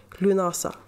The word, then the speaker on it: Lughnasa: want to pronounce it but I've checked it's pronounced Lughnasa and and it's Gaelic festival taking place on